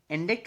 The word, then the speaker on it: indict: the nemonic here is indict rhymes with verdict so verdict is u